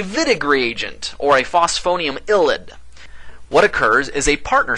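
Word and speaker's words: ylide: I love this word illid it starts with the letter Y I always want to pronounce that yide but don't you dare pronounce it wde because that's not how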